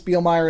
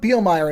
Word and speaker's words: Bielmeier: Douglas Bealer and I are wait I mispronounced that wait that Dr. Dr. Doug Beielmire and I are painstakingly going through two episodes per part.